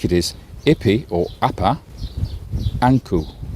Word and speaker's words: Ankh: And we think it is Ipi or Appa, Anku. That is how Ankh is pronounced in ancient Egyptian.